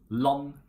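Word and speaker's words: land: We don't pronounce the letter D in combinations ND, RD, and LD. Okay, we just drop it. Like for example in lon, or bor, or koll.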